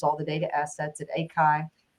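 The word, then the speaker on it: ACHI: the data assets at Akai ikai um not atchi which is what I said the first time I came here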